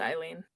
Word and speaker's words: Aileen: It's Aileen, so Yeah, that name is pronounced Eileen usually.